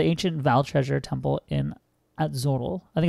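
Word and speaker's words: Atzoatl: I think this would be pronounced Atzotl. Because it's like Quetzalcoatl, isn't it?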